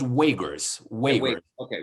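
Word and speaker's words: Uyghur: i'm gonna butcher extension i'm gonna spell it's u y g h you are so they're pronounced wakers wait wait okay right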